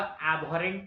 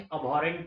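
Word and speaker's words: abhorrent: उसी तरह जैसे कि इसको एबहॉरेंट नहीं अबहॉरेंट पढ़ा जाता है.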